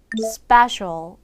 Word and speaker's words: special: English study study 자 그리고 스페셜이 아니라 special special 같이 읽어볼까요 special special 그리고 마지막 스탈이 아니라